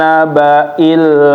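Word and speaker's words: النبإ: Sama ya Bapak, hamzahnya jangan nabai. Nah, ini kurang, tapi nabai. Coba lagi. Anin naba'il azim.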